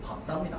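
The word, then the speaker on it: 밟다: 발다가 아니고 박다입니다. 박다. 그냥 비읍이야.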